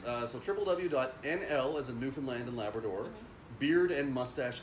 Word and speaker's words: Newfoundland: of us neew but newfound land that's not pronounced new family and we hate it when people say new family it's Newfoundland sure I was gonna